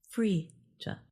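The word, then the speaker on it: Phryge: Frisia, the mascot of the Paris Olympics, is pronounced Frisia.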